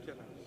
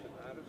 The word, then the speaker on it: tinnitus: And the guy says, how are your tinnitus? I said, we did that 3 times. He said, are you saying tinnitus? And I said, it's pronounced tinnitus.